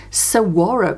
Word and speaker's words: saguaro: And someone did tell me how to pronounce it. I think it's pronounced saguaro cactus. So I called it the saguaro. It is something like saguaro cactus.